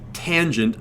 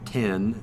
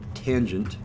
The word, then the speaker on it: tangent: is cosine and gan i pronounced that tangent not 10 but tangent so I read these